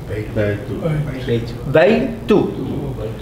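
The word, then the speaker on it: بَيْتُ: Notice that I pronounce the ya with the ba as one syllable, then I cut here. Why did I cut here? The rule says any letter that has sukoon has to be pronounced with the previous syllable.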